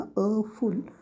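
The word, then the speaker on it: awful: उच्चार येत नाही बघा अ फुल अ फुल म्हणजे एफ यु एल होतो अ आणि फुल चा उच्चार होतो डब्ल्यू सायलेंट मध्ये राहतो पण त्याचा ए डब्ल्यू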